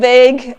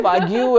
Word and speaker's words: vague: what and he said do you mean vague and I'm like ah vague okay so that's how it's pronounced okay so that's you and I never forget that know the pronunciation yeah I mean I Saw V you and I'm like okay V you so that was the